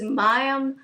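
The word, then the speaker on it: Mayim Bialik: name weird butam viic mayam mayam she says mayam viic breakdown she is the woman who played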